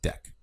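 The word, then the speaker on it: deque: So here's the documentation, and you can see it is pronounced deck.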